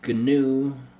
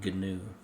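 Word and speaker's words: GNU: find the word Windows here or microsof G ganu yeah that's how you pronounce it ganu yeah notepad++ anyways let's click I agree oh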